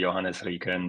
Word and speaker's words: Johannes Rieken: It's so the full German Swiss pronunciation would be Johannes Rieken, but is enough.